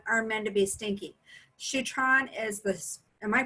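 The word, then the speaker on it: Shutran: Shutron is am I pronouncing that right? Yep, Shutron.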